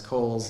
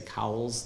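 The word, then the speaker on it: Cowles: Jensen you might recognize Cole's name uh and and I pronounce it Kohl's because that's how he pronounced it but if you've always seen that W and had to say cowls that's okay too um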